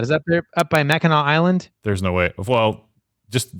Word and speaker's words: Mackinac: Is that there up by Mackinac Island? There's no way. Well, just that you pronounced Mackinac correctly shows that you know something about Michigan because it's spelled Mackinac.